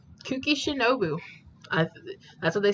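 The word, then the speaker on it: Kuki Shinobu: I have been saying her name pretty right kooky shinobu that's what they said oh hey shinobu hey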